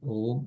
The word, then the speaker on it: Om: Om. Everything is, yeah. Om is. Okay. So what happened in these four syllables I said, right? Silence, A, U, M.